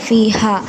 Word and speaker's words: فيها: Then ഫീഹ next ആയത്തിൽ ഫീഹ അവിടെ ഹ എൻ്റെ ഉച്ചാരണം ശ്രദ്ധിക്കുക. ഹ എന്ന് തന്നെ പാരായണം ചെയ്യാൻ ശ്രദ്ധിക്കുക. ദെൻ കുതുബു ഖയ്യിമ അവിടെ ഇഖ്ഫ ആണ്.